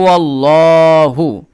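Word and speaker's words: اللَّهُ: হা পেশ হু হু আল্লাহু এখন আল্লাহ শব্দের যে লাম তার পূর্বে যদি জবর থাকে তাহলে লাম এর উচ্চারণটা ল এর মত হয় ঠিক আছে এইজন্য কুলহু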